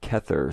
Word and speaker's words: Kether: that here we have kether spelled with a c which is pronounced as a k in hebrew catcher also known as